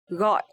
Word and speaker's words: gọi: So here letter G in Vietnamese we pronounce like g. G. And also the tone mark is dấu nặng. So this word we will pronounce gọi.